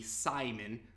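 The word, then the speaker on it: Psimon: is revealed to be Simon but his name is spelled with a PS much like psychic so he has telepathic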